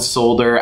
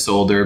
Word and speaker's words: solder: solder them together also I know it's spelled solder I know most of the world says solder but I'm in the US and we say solder so that's what we're